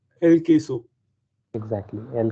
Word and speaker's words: queso: Uh, Let me tell you the pronunciation when QUE is coming all together. It is K pronunciation. So now, can you pronounce it correctly? El queso. Exactly. El queso.